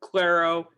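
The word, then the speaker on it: Clairo: just brought up, like Snail Mail, Soccer Mommy, Clario, how do you say her name? Claro. Claro.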